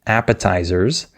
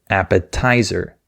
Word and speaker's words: appetizer: speaker, this worker, and she stressed the wrong syllable. She said appetizer. And the way she said it was very hard to understand for the native speaker because he was expecting her to say appetizer. That's the correct way to say it.